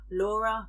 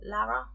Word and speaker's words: Lara: you'd sworn to destroy Laura no Lara that's how they say it in the audible Laura yeah has only